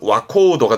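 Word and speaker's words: 若人: 와카모노나 같습니다만은 뒤에 사람 인자가 올 때 발음은 와코우도가 되는 특별한 케이스이기 때문에 이건 통함기 기억해 두시고요. 젊은 사람의 와코우도.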